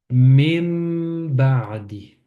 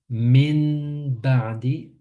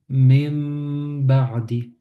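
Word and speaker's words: مِن بَعْدِ: On apprend que lorsque le noun avec une soukoun est suivi du ba, le noun devient un mim.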